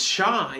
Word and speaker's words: shy: And the sounds of shy are sh, I, shy. And you might notice the letter Y is making a different sound at the end of the word. At the end of the word, it can make the sound I.